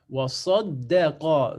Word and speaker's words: وصدق: Wa saddaqa. Ça, c'est parfait. OK? Wa affiné, sad emphatique, da affiné, qa emphatique.